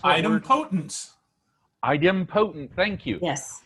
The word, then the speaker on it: idempotent: Cindy, do you know how to pronounce that word? Idempotence. Idempotent. Thank you. Yes. Idempotent.